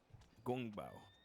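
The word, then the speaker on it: 宫保: Gong. No, gun. Gong. Go. If you say you go. Gong. Go. With the NG at the end. And then bao. Gong Bao. Yeah, perfect. Perfect.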